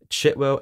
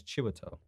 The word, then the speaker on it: Chiwetel: Chitwell Ejiofor. Oh. Chitwell. Is that not how you pronounce No, it? it's Chiwetel.